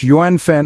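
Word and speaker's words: 缘分: function in Chinese Society our fourth word is yenen pronounced as Yen y second and fourth tone in the vast lexicon of Chinese language yuanfen holds a special place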